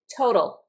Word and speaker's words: total: Total. Total. When I pronounce this total, I pronounce the T explosively. T. But this T in the middle sounds like a D.